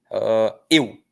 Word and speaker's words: eu: Eu é um ditongo, tá? Em que o E é a vogal e o U é a semivogal.